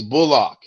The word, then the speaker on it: Bullock: does your name pronounce is it bullock or bulldog how would you like to pronounce it he said i'm glad you asked me that it's bullock do you know do